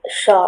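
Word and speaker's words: pshaw: Okay, shaw. Are there any alternate pronunciations? Shaw is the only pronunciation.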